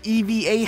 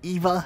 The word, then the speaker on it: EVA: This is the EVA helmet, not the EVA helmet.